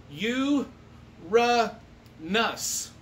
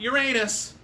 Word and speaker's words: Uranus: what's next oh yeah it's pronounced you ra nus you ra nus it's not uranus we don't need any weird